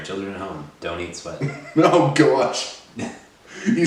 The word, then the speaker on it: Sweat: Yeah, his last name is Sweat. Is it pronounced Sweat? Yes, it is.